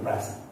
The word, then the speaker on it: present: See, here this present is used as noun, so I stressed on first syllable present.